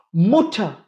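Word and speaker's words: Mutter: முற்ற டே ரிபீட் ஆகுது அதுக்கு முன்னாடி ஒரு வவ்வல் வருது அதனால அத முற்ற அப்படின்னு சொல்லம் ஸ்டடக் ஸ்டட் இங்க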